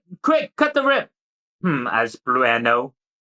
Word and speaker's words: Blueno: As Blueno. It's Blueno. The E is silent.